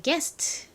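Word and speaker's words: guest: u가 들어 있습니다 하지만 gu 이렇게 함께 쓰이면 u는 소리가 탈락하죠 그래서이 세 개의 철자를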